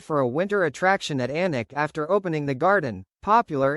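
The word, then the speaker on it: Alnwick: When we started the Anic Garden, no journalist could pronounce Anic." They all said alenwick.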